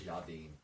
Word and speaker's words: Jardine: Not Gerardine, it's Jardine.